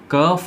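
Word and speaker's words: cough: जाती है बलगम वाली, उसको कफ बोलते हैं, कफ कफ, नोट कॉफ, ठीक है कॉफ मत कीजिए।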